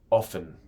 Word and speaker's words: often: arrives at 9 am often en inglés americano se pronuncia ofen sin pronunciar el mientras que en el inglés británico pueden pronunciar la t por ejemplo often Travel in Summer they often Travel in Summer para m con el T se siente mucho más natural sometimes como en we